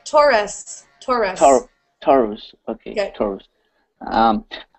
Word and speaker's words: Taurus: it here okay um I'm tus taus you pronounce tus uh yeah I would say Taurus Taurus Taurus okay Taurus um says um strong